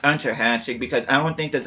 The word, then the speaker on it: Unterhaching: I think it's actually supposed to be pronounced Unterhaching, because I don't think there's an umlaut over the U in Unterhaching. I think it's actually supposed to be Unterhaching.